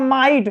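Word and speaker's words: might: जैसे होता है फाइट, FIGHT, जैसे होता है माइट, तो इसमें देखिए GH क्या है, साइलेंट है।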